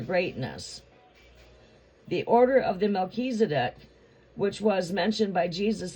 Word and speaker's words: Melchizedek: Melchizedek pronounced as, well, it's pronounced as Melchizedek.